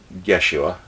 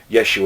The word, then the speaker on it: Yeshua: picture of Jesus, or Yeshua, technically the J sound or letter didn't come up until centuries later, so Yeshua is actually closer to Joshua for an actual name, but I digress.